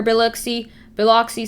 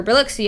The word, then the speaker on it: Biloxi: anywhere around here it may make landfall for biloxi sorry or biloxi i actually know how to pronounce that biloxi uh maybe even areas near areas of the